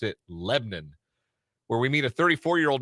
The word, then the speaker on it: Lebanon: do you got all right we're going to Lebon Indiana and yes that is how they pronounce it it is spelled spelled Lebanon but they pronounce it lebbon where we meet a 34-year-old man from Chicago